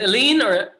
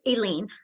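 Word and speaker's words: Eileen: baby taught you elaine is it alien tell me how do you want your name pronounced it's aileen just elaine okay hearing everybody else i'm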